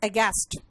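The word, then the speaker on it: aghast: और अगर मैं ऐसे कहूं, देखो इसका प्रोनाउंसिएशन में एच जो है ना साइलेंट है, इट इज अगेस्ट।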